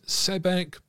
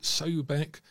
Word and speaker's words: Sobek: appearance into that of, he says, Sebek, but it would more likely be pronounced Sobek these days, a sort of crocodile-headed god form.